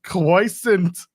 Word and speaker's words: croissant: that nowadays that's true it's pronounced Quant Quant it's cant I just say croissant I'm sure that's very